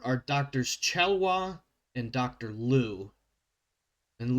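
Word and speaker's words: Liu: doctors chalwa and Dr Lou and Lou is spelled l IU it's an Asian name I'm probably missing a little extra enunciation in there but uh so as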